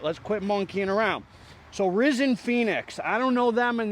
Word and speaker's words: Rysnfenix: already say that no I don't think so risen Phoenix it's pronounced scorched Earth preworkout is it worth it